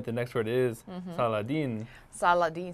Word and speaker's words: Saladin: Saladin, Saladin. Okay, Saladin. 다시 한번. Saladin. Saladin. Okay. Saladin sounds like Aladdin.